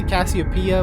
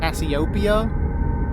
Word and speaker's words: Cassiopeia: dr cassiopeia cassio and i'll say cassiopeia because that's the way i understand it i know some other people say asyopia but for me it's